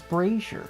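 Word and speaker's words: braziers: It's braier.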